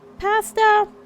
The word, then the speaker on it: pasta: Pasta! Fine. Or well, should I say pasta? Because that's the right way to pronounce it. Pasta is the English posh way.